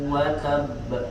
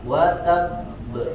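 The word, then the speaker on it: وَتَبَّ: sukun dan ba berharokat, maka bacanya watab, ditahan dulu, tidak langsung memantul sifat qalqalahnya, bukan watab, bukan watab, tapi ditahan dulu, watab ya, seperti itu.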